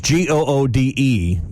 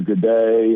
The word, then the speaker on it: Goode: say your last name which is g-o-o-d-e for those that don't know listening it's pronounced good but there's a lot of people say good or good day a couple people back